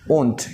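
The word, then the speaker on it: won't: Will का negative क्या होगा? Will not. लेकिन प्रोनाउंसिएशन क्या होगी? ओंट।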